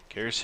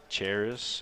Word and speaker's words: Karis: Karis Hill going to step up to the plate. Well, I got her name wrong so many times during basketball season. I think we called her Charis and all kinds of things.